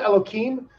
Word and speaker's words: Elohim: Now, I pronounce it Elohim. It's spelled, instead of a K sound, it's actually spelled with an H in there.